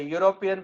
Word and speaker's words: European: a university and a european because the initial sound is like a y and a one off